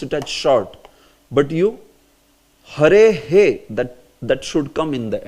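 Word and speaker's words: हरेः: But you hare he, that should come in the end. Hare he. Say hare he. Yeah. Instead of saying hare ha. No, it's not hare ha.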